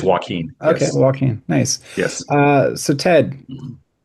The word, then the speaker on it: Jacquin: It's just spelled weird. My mom got creative with my spelling. It is Joaquin.